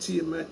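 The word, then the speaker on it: tiamat: And that email is pronounced tmat.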